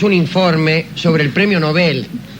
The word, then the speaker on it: Nobel: Y dice que por lo menos allá en Suecia es Nobel, lo que no garantiza nada.